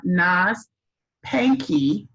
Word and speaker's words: Naz Pankey: am your literary ambassador and today we have nas panky on our channel today welcome welcome welcome and did i pronounce that right yes you did thank you